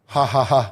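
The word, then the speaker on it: Jajaja: a Mexican s called hahaha which is from what our Buddy Joe told us the J is pronounced H yeah the J is pronounced H in in in the Mexican language so it says j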